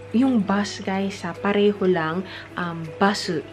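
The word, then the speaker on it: バス: Basu. Ganun lang yung pag-pronounce nila. Basu. Basu. Kasi dito sa Japan, parang they always end every word with vowels.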